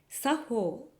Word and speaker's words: 作法: 作法と漢字で書いて作法と読みます。